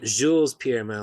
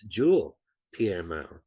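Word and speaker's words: Jules-Pierre Mao: It's not Jules Pierre Mao, like I've always been saying. It's Jules Pierre Mao. And I didn't catch that until a couple of people said his name in this, and they didn't pronounce the S.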